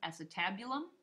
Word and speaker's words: acetabulum: I pronounce it acetabulum, but it's the actual socket where your femur, the head of your femur, is going to be found.